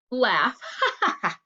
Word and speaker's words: laugh: time always and laugh tricky part of laugh it sounds like did anybody think it was going to be ph or f okay and we will